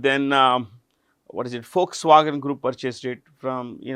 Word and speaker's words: Volkswagen: This V is pronounced with an F. Remember this. It is not Volkswagen. It is Folkswagen.